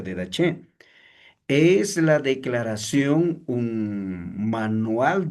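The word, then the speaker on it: Didache: de che, por favor, de dach o de g también algunos pero se pronuncia de dach.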